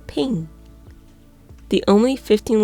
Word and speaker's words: PNG: their knees when threatened the creators of PNG wanted it to be pronounced as ping the only 15 letter